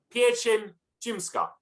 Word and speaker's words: pieczeń rzymska: Called pieczeń rzymska. I thought that's what I said, but apparently not. Pieczeń rzymska.